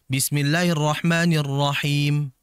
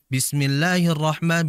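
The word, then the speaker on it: بسم الله الرحمن الرحيم: sangat jauh dengan mulut maka pengucapan huruf ha Ini mesti harus hati-hati ya jangan sampai mengucapkan huruf ha yang sering terjadi adalah seperti ha atau bahkan h-nya tidak dibaca jelas Seperti contohnya Bismillahirrahmanirrahim Bismillahi di situ ada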